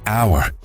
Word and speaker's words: hour: en inglés decimos Our Aunque la palabra comienza con h esta letra no se pronuncia por lo que el sonido que escuchamos es una vocal en este caso la o así que para decir